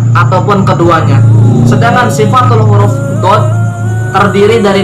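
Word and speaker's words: ض: Yang ke-15 yaitu huruf dod, pelafalannya do.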